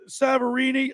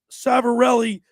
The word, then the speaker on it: Savarelli: at North Wildwood uh Chief savarini excuse me Chief I always get his name wrong I want to make sure I say it properly because I always have a way of butchering names Chief Bill savarelli did a great job